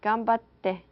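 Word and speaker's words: 頑張って: Now I'm going to introduce you to another Japanese term, which is pronounced gambatte.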